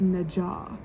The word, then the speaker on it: Nezha: So like when I see Nezha, it's Nezha. I would pronounce that Nezha, but the audiobook pronounces it Najah.